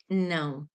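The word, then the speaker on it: não: Is that is pronounced no in Portuguese.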